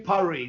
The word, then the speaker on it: Paris: ANYWAY, I WENT I FINALLY ENDED UP IN IN PARIE. NOW, there's a definite thing where British people milk it up. You call it Paris. No, that's cement. That's what you see. Paris. It's Pari. Pari.